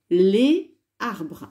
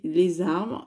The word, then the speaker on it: les arbres: cette partie du tableau les arbres alors on va faire la liaison les armes c'est plus joli et plus facile à prononcer les armes le déterminant